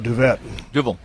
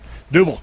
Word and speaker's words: Duvel: Now I'm going to mispronounce the name. Is it Duvel or Duvet? Duvel.